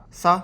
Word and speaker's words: さ: weird curvy sign now the pronunciation of sign at least the sa part of sign is similar to sa even though it's spell with s I in English so use this pronunciation the sa in sign to remember that this is sa the next cona is